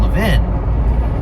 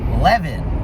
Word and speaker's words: Levin: But when I moved from Philadelphia, where the pronunciation is the Israeli pronunciation, Levin, and I moved to New York, where it was very Americanized, Levin, L-E-V-I-N, Levin.